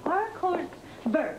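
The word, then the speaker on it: haricots verts: and I told them the H is silent it's our Co ver that's French you know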